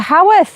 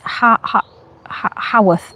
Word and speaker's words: Haworth: I can never say it right. It's Haworth. Haworth, isn't it?